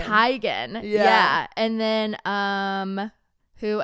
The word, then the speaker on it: Teigen: um John Legend's wife Christy Teigen apparently it's oh yeah I knew this I knew this is Chrissy Teigen tygan yeah and then um